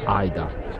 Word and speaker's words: Aida: La stessa pronuncia Aida è stata avuta dal stesso Giuseppe Verdi, perché la pronuncia originale egizia sarebbe Aida.